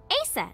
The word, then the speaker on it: Aset: is named Isis but in ancient Egyptian it's pronounced closer to ISA or aset oh yeah H how do I explain this